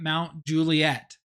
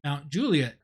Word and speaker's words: Mount Juliet: moved here to Nashville we were calling it Mount Juliet and when I went up there I had